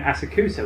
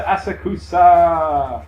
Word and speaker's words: Asakusa: But maybe there's one in Asakusa where all the mannequins went.